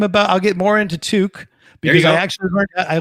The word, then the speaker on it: toque: going to talk about torque, are you?" You're going to I go, "There's no R in there." He's like, "Yeah, there is. There is." I go, "It's toque."